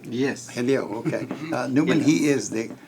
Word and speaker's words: Hillel: Did I pronounce it correctly? Yes. Hillel, okay.